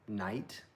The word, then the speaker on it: knight: But I did like ones like knight, as in like knight in shining armor with the K and like the GH that used to be pronounced. Like those are interesting words because that's how they used to actually sound, like kneeked, you know.